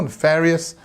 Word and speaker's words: nefarious: the answer is nefarious nefarious and pronunciation wise we stress on the second syllable nefarious and again it's got